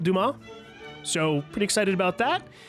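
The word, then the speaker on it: Dumas: Akiba on Tomas Alexandre, I want to say is how the French pronounce it. Duma.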